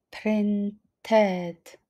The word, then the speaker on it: printed: Tutaj wymawiamy ed, dlatego że print kończy się na t. Printed.